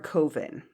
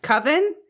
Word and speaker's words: coven: I told her I was looking for a koven because I only ever read things so right koven right I don't I didn't know and she was not having it she was like it's pronounced coven and she had nothing more to say to